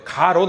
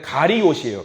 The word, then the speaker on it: 가리옷: 아마 가롯 발음 잘해야 돼요. 가롯 아닙니다. 원래는 가리옷이에요. 가리옷. 빨리 하면 가리옷이라고 해서 가리옷 유다. 가리옷 지방의 유다에서 가리옷 유다라고 하거든요.